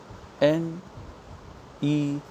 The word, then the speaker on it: neun: Because wherever you see in the German the spelling EU together, in any German word, if you see EU together, it's pronounced as oi. Remember the sound, oi. So this whole word Neun would be neun, noi, oi, because of an noi, and then again a n is there, so it will be pronounced as neun.